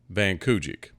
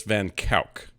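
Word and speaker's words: van Kuijk: Now, to me, in English, this is Andreas Cornelius Van Kijik. That is not how they pronounce it. It's Andreas Cornelius Van Kijck. So from here on, you need to know that he was Andreas Van Kijck, or they actually called him Dries.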